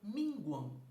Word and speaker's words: minguam: Só que o que acontece com essa terminação an, final de sílaba, eu já sei que é um ditongo fonético, como se fosse ão.